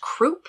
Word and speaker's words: croup: look up the pronunciation it said it was pronounced croup it's spelled c-r-o-u-p but you know she was